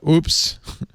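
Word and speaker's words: oups: But I typed it into Google Translate, and French "oops" is O-U-P-S. Oops. It's pronounced exactly the same.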